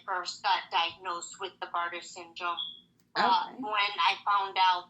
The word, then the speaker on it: Bartter syndrome: Kyley suffers from Barrow's disease. How do you say it? Bartter syndrome.